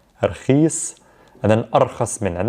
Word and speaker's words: رخيص: رخيص, we'll pronounce it رخيص, رخيص.